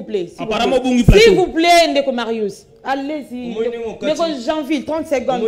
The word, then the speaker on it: Marius: Bazaka mibale, bango ka mibale, zaka ndeko Marcus. Eric, maître Eric, il faut bien prononcer mon nom. Marius. Je ne suis pas Marcus.